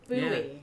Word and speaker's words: buoy: We pronounce this just as you would pronounce the word boy, as in boy and girl. Buoy.